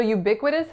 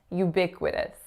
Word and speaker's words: ubiquitous: The first syllable is U. U. So it's a Y consonant followed by that moving diphthongized U vowel. The second syllable is B, so B followed by a lax I sound. The third syllable is qui, qui, so KW lax I. And then we have an alveolar flap going into a schwa, going into an S.